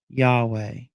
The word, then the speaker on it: Yahweh: They don't want you to say his name correctly, Yahweh. They don't want you to say Yahweh. They want you to say Jesus.